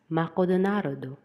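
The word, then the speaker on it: マクドナルド: Japanese read it as makodonarudo.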